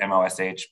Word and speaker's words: MOSH: Maryland's is spelled like MOSH, like MOSH pit, M-O-S-H, but people call it MOSH.